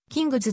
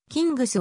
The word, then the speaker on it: キングス: 位置に含まれるなおキングスの英米語での発音は kz であることから発音に即した形でカタカナ表記するとキングズとなるが寛容的に静音のキングスを用いる例が多い当駅